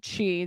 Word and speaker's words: Chi: It was Chi, that's how you pronounce it, of the University of Idaho campus at 735 Nez Perce driven.